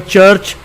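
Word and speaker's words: church: While in the word चर्च the letter CH is pronounced as the Urdu Punjabi letter चे। और जो चर्च लफ्ज़ है इसके अंदर जो CH है ये उर्दू पंजाबी में जो चे की आवाज़ है उसकी साउंड देता है।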